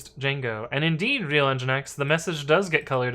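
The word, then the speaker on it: nginx: it was because of engine X so funny thing about engine X um for the longest time I thought it was pronounced enyx uh I heard somebody pronounce it out loud so but yeah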